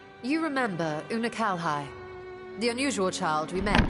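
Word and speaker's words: Unukalhai: that world a useless void you remember unakalhai the unusual child we met during our troubles with a warring that's how you pronounce his name he explained the fate of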